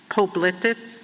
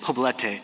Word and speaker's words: Poblete: I'm pronouncing it wrong, Poblete, P-O-B-L-E-T-E. Federal law, well, how do you say it? Poblete. Poblete, okay. I should have said it in Spanish to start with. It is poblete.